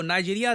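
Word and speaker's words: Niger: जी हाँ, यहाँ पे जो प्रोनाउंसिएशन है ध्यान रखिएगा, grand commander of the order of द नाइजर।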